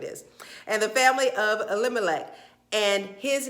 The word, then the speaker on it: Elimelech: that's what it is and the family of elimelech and his name was Boaz okay through all